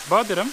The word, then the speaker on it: Buderim: Burası Buderim. How do you say? Buderim. Buderim. Yeah. Buderim. Yep. Like my butter.